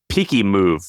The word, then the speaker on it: Pikimov: And he calls it Peaky Move or Peaky Move. How do you think you pronounce that? I have no idea. Peaky Move. I don't know. Peaky Move. So it's Pikimov.